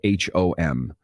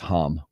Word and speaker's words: Hom: We have a furniture store that's based up here in Minnesota called Home Furniture, and it is spelled H-O-M. So for my kids and I, it's Hom Furniture.